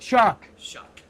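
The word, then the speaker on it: Shough: Shuck. That's how it's pronounced.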